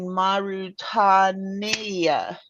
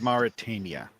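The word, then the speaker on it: Mauritania: Um, our next mission is taking place in Marutania. I think I said that right. Um, um, I didn't speak Russian. I think it's pronounced Maritania.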